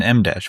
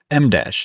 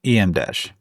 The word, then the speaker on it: EmDash: trying to convert a WordPress website into an Mdash website. Side note, uh it's Mdash, not EMdash.